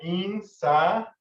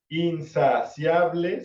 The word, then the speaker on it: insaciable: En cuanto a la fonética de la pronunciación, se podría escuchar como in, 1, sa, 2, si, 3, a, 4, ble, 5 sílabas. Pero la realidad es que la regla gramatical dice que si hay dos vocales juntas, se unen para formar una sílaba, y eso se llama diptongo. Por lo tanto, gramaticalmente, insaciable tiene solamente 4 sílabas.